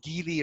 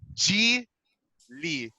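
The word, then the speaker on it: Geely: a review in the gili ascara i was pronouncing it as gili right so like after making the video and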